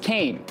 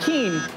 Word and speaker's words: Kean: the Kane family and it's pronounced Kane not King McCain Heinz Hall would